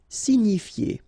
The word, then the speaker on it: signifier: Signifier. Okay, it's quite strange, but remember that G-N-I, ni, signifier.